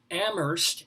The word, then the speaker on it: Amherst: s congdon c-o-n-g-d-o-n at amherst a-m-h vitamin that's so pretentious not to pronounce the h amherst.edu.edu for if